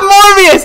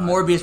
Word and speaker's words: Morbius: Morbius rhymes with abortionist.